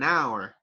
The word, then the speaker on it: hour: You do not pronounce the letter L, so it's half an hour. And right here, the letter H is silent, right? You do not pronounce it. So it sounds like half an hour, half an hour, half